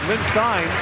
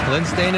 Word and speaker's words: Lindstein: with the for foru Te lindstein was being called lindstein for the first few games of the tournament his mother Paul twv mispronounced mom knows so we're all changing it l stain is his generation KES for